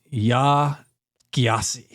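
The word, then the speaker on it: Yaa Gyasi: by uh a lady named Ya Giasi, I think. Her last name is spelled G Y A S I.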